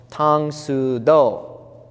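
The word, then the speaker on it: 唐手道: If you write this in Korean, it would be written the same way. It would be pronounced Tang Su Do.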